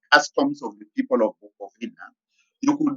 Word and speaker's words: Bukowina: Bukovina was it's pronounced as Bukovina, but written as Bukowina. Bukovina was because W in German and in the Dutch is pronounced as V.